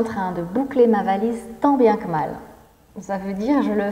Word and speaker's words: tant bien que mal: moi c'est tant bien que mal que l'on prononce tant bien que mal tant bien que mal tant bien que mal donc ici ça veut